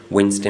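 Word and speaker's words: Wednesday: में जी साइलेंट है वेनसडे में डी कसल में टी थम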